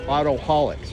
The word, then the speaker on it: AutoHauliks: So, it's It's like alcoholic but it's spelled different. So, autoholics, right?